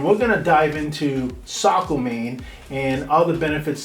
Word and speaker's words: Saco: that they're not from here, because most people pronounce Saco as Saco if they're not from here, but it is called Saco.